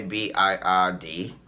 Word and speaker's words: bird: should we pronounce it the sound of ir is er er okay he had the